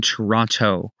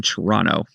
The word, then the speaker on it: Toronto: If they pronounce the second T, they're they're likely not a local in Toronto.